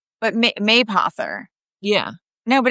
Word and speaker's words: Mapother: People wouldn't constantly be asking me how to say No, Mapother. but Mapother.